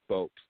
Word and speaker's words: Bopst: That's it, and it's pronounced just Bopst. Bopst, just like that.